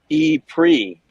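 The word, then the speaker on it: E-Prix: there to cover uh Formula E is that the right way to say that e Grand Prix yeah yeah it's the Formula E Monaco e pre and that will be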